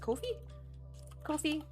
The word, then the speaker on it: Ko-fi: If you also want to check out my Ko-Fi or I don't know how to pronounce that. Ko-Fi.